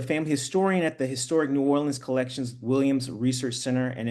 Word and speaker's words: New Orleans: New Orleans. You were right, New Orleans.